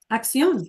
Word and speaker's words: acción: Did I pronounce it right? Axion. acción.